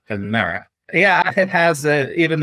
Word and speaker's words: Pimera: Number 5, Pimera.